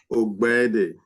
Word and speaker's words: Ogbede: Ogbede. Obeded. You don't That's say, close. That's close. do you say the G at all? The G is silent.